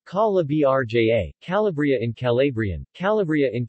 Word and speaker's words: Calabria: calabria italian pronunciation calla brja calabria in calabrian calabria in calabrian greek calabria